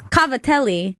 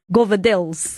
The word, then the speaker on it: cavatelli: So it's cavatelli. Yeah, is how you would probably a better way to pronounce it, but it's just with the accent and then that bastardization of Italian govadils.